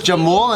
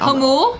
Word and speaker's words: Jamul: I thought it was Jamul, and then the fire department came, and they're like, "Oh, hello, this is the Hamul Fire Department." Hamul? Yeah. Oh, that's how you say it.